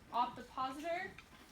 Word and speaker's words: ovipositor: Does anyone want to try to pronounce that word? Ovipositor. How'd you say it? Ovipositor.